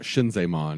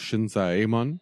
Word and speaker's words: Shinzaemon: If there are two vowels in a row, mm-hmm. they're each separate syllables. Like Shinzaemon, it's not Shinzaemon, it's Shinzaemon.